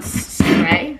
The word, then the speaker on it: Syrah: Yeah, it says S-I-R-A as like the pronouncing. Syrah.